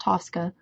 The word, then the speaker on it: TSCA: The Toxic Substances Control Act, abbreviated TSCA and pronounced TSCA, authorizes the EPA to monitor and regulate industrial